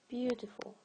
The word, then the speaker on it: beautiful: Because these 3 letters, E, A, U, are pronounced just one long U sound.